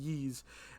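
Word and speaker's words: Ys: Yeez, which shockingly I actually know how to pronounce it, but it's pronounced Yeez.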